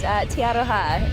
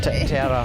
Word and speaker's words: Te Aroha: It's actually pronounced Te Aroha. Te Aroha.